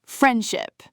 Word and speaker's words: friendship: Friendship, the D almost vanishes. Friendship.